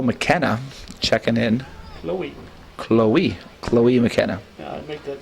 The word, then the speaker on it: Chloe: So checking in here for Schroon Lake is Chloe McKenna checking in. Chloe McKenna. Yeah, I make that same mistake. Like Zoe and Chloe, even though it doesn't look like it, that's how they're pronounced.